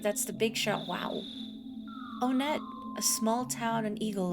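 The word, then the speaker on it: Onett: deal with it also it is pronounced onet going by the Japanese version no problem here Earthbound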